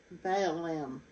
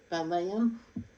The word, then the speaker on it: Balaam: before, erroneous course of Balaam. No, that's not how you say it. Balaam for a reward, and they have perished in the rebellious talk of Korah.